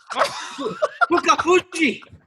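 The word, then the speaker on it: Fukufuji: Fuka Fuji. That was correct. That was great. I just want you to say it again because Can it's you so say awesome. his first name? Yutaka Fuku Fuji.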